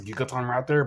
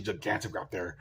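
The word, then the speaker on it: Gigantoraptor: I pronounced a gigaton raptor but it's actually gigantic raptor cuz he's kind of it's kind of a giant raptor.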